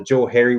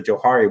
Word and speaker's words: Johari: And so it's kind of funny, that one guy's Joe and one guy's Harry, and so it's called the Johari window. You switch the pronunciation, it's the Johari window.